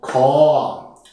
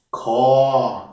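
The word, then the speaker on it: คอ: Eine weitere Vokabel mit diesem Buchstaben, dem K, ist das Wort Kor. Kor im mittleren Ton ausgesprochen.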